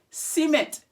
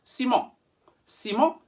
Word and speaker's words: Siemens: one count to five remember the sound of en in french is on so from an english-speaking background you might be tempted to say en le si me siemens he may even pronounce